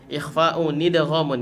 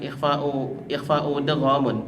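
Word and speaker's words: إخفاءٌ إدغامٌ: Yang bait yang kedua yang sebelah sana, ikhfa'u nidghamun ya, jangan lupa bacanya adalah ikhfa'u nidghamun. Nah, ini nun wiqayah. Ikhfa'u nidghamun, bukan ikhfa'u dghamun, tapi ikhfa'u nidghamun.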